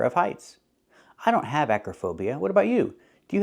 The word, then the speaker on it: acrophobia: heights that's called acrophobia the word is not pronounced acrophobia the O in the middle does not make the long o sound like no and go it's not acrophobia it's pronounced Acra Acro phobia the O in the middle is pronounced with a short uh sound like cup and up Acra relaxed and closed uhuh Acra acrophobia is the correct pronunciation and it means a